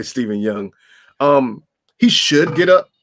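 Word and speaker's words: Steven Yeun: right Steven young yeah I always say Steven yo clearly Steven young um he should get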